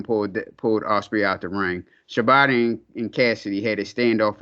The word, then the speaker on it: Shibata: Shibata, that's how you pronounce it, Shibata.